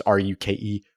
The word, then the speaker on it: Ruke: So Rook, which rhymes with like juke, it's Ruke, Rook Orhorhoro.